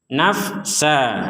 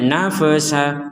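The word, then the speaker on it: نفسا: Tum nah seperti itu nafsa Nah ini juga Fa jangan sampai nafa nafa Intinya kalau bukan huruf yang dipantulkan jangan sampai dipantulkan na nafe itu memantulkan itu Nafa na na itu memantulkan na sa nah di sini yang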